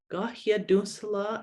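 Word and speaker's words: kahiatónhsera: So ga, ya, du, se, la. Ga, ya, du, se, la. Gahiadunsala is the word for paper.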